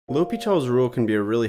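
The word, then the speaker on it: L'Hôpital: L'Hopital is how it's pronounced, so it looks like this. Looks like El Hospital's rule, but it's pronounced L'Hopital.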